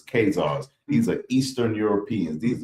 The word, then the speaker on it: Khazars: H A Z A R, but the others pronounce it K H A Z A R. Either one is correct because it's Kazars.